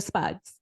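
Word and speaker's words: SPDS: seller property disclosure statement which we call the spuds In The Biz and it's not s-p-u-d-s guys so don't spell it that way I always laugh when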